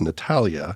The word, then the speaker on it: Natalija: we hit record that you have a letter in your first name that isn't pronounced there's a J in there but it's Natalia and then you have